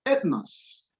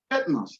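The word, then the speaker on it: ἔθνος: Now, you see it as easy as ethnos, ethnos.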